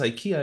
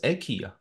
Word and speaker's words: IKEA: also in Sweden is pronounced differently it's not pronounced Ikea it's pronounced AIA so there is like this also a cultural